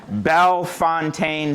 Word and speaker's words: Bellefontaine: the cemetery chronicler at, watch my pronunciation, Bell Fontaine Cemetery and Arboritum. Uh, people ask all the time, where did Bell Fountain come from?